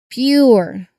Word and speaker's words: pure: So it's the P sound followed quickly by the Y sound. Okay, like words like uh how do you call that? pure.